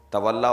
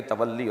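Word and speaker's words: تولّی: و نہی عن المنکر، تولا و تبرع، جسے صحیح تلفظ میں کہیں گے تولی و تبری۔ جی صحیح تلفظ بھی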